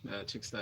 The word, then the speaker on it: CHXTA: Cheta is at CHXTA. Chicksta is how we pronounce it here.